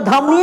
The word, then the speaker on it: धमनी: Artery इ बताइए ध्यान से धमनी होगा कुछ नहीं होगा धमनीय होगा ए रिलैक्स होइए समझाता हूं समझने की कोशिश नहीं कीजिएगा तब बोलबे कीजिएगा नहीं अरे एक चीज एक चीज बताओ ए साइलेंट हो हम यहां देखो ये क्या है सीधा है कि नहीं है इसको उसको धमनी बोलेंगे। क्या बोलेंगे?